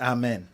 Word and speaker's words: Amen: How do you say the name correctly? Yeah, it's Amin. Amin.